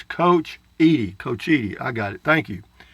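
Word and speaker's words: Cochiti: New Mexico of south of Santa Fe it's coach coachy I got it thank you Texas Life Julie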